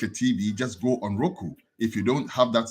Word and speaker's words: Roku: where you can access Roku Roku not iroku I see people make that mistake they say iroko no it's not iroko it's Roku Roku TV now you realize